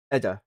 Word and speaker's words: Edda: A capsule Eda or Eda. How do you pronounce that? Eda, apparently.